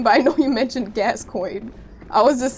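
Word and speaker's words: Gascoigne: Friends, you said it's pronounced Gascoin.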